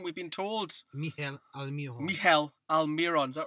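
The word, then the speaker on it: Miguel Almirón: pronunciation we've been told Mel aliron Mel aliron is that right the g is silent the g is silent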